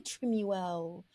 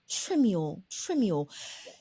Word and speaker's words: Trimuel: Treasure, and she is I always get your last name wrong. I want to say Trimuel, but I pronounce it wrong. So it's Tamera Trimuel. Trimuel.